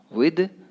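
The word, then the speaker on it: with: I have a meeting विद, इसको पढ़ेंगे विथ नहीं बोलेंगे, है ना, थोड़ा प्रोनाउंसिएशन अभी सुधारना है, ठीक है।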